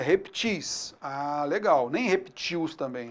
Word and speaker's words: reptis: O plural de reptil não é repteis, não é répteis. O plural de reptil é reptis.